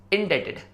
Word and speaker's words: indebted: और अगर आप रियली में किसी कर्ज के बोझ में दब रहे हो तो उसे हम कहेंगे इंडेटेड। यस, यू आर इंडेटेड। INDEBTED में बी साइलेंट है।